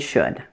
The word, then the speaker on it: should: is the vowel sound the O you in these words is pronounced like the OO in the words book and good now let me show